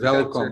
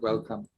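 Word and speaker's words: Welkom: It's pronounced welcome, not welcome. Welcome.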